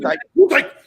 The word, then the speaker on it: Gesundheit: You Gesundheit. he said Gesundheit. Oh, You gotta say it like a German. Gesundheit.